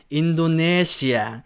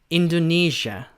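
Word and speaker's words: Indonesia: 인도 내지 않는데 여러분들 약간 인도네시아를 약간 영어처럼 발음만 어떻게 될까 인도 4시 아 인도네시아 이런식으로 이렇게 말 김 어떻게 어떻게 되면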